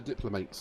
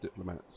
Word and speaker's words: diplomats: like it oh the goals are sending the diplomates to me yes i know it's pronounced diplomats but i said it wrong earlier on i've